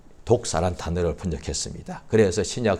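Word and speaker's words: δόξα: 그리스 줘 어 거기에 이제 영광 이란 단어가 독사 라고 발음합니다 그런데 그 단어가 사실은 원래는 어 그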